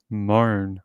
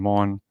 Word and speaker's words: Mohn: So they pronounce his name Moan, almost like, Moan. I was saying Mon. I don't know. my Australian English tells me to pronounce it that way because there's no A in there.